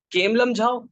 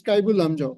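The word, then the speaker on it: Keibul Lamjao: Kemlamjhao National Park. You should go back and check the correct pronunciation of that. Okay, sorry, sir. It's Kaibul. It's Kaibul Lamjao.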